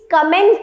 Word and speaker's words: comment: Please कमेंट इन द कमेंट section. No, the right pronunciation of this word. अपने feedback दो, कमेंट करो. Is wrong. इसका pronunciation होता है कॉमेंट.